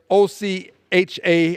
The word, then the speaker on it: OCHA: un's office for the coordination of humanitarian Affairs OC ha I will pronounce it Ocha says as of early February